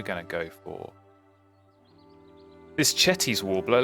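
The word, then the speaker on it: Cetti's: And as I said, we're going to go for this Chetty's Warbler. Let's pronounce it correctly. Let's not call it Setti's Warbler.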